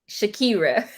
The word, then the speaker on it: Shakeira: Shakira.